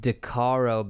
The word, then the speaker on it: Decaro: I've started to go with Decaro because it damn near rhymes with guitar, and so that's as good a reason as any, I think.